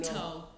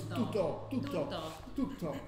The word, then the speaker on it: tutto: tutto. But in Italian it's tutto.